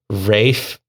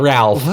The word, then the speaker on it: Ralph: mean Ralph finds it's Rafe what Rafe finds what I mean yeah Rafe fines I promise you it is not Ralph even though it is spelled Ralph spelled 100% Ralph it